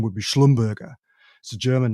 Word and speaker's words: Schlumberger: border of Germany and France so the correct pronunciation would be slum burger German name but it's a anglicized Schlumberger and two brothers Konrad and Marcel they were